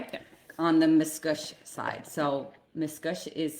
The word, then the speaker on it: Miscouche: On the Miscouche side. So, Miscouche is spelled m i s c o u c h. Miscouche.